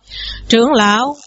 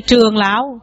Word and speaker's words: trưởng lão: Rồi đây trường lão cũng không nghe, như vậy chỉ nghe là trưởng lão.